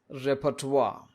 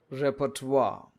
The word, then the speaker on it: repertoire: This is to be pronounced as repertoire. repertoire Now, what is this repertoire?